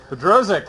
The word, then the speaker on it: Bodrozic: It's get butchered all the time. John Don't worry about it. It's a test. Bodrozic. Bodrozic.